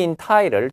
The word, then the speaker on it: entitled: You'll be entitled to. be entitled to. DT 붙으면 D 발음하지 마라 그랬죠.